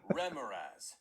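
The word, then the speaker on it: Remorhaz: Remoraz.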